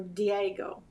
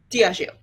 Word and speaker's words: Diageo: brand ambassador for Bacardi to beverage consultant for Diageo. Diageo. Mm-hmm. Diageo. My pronunciation here.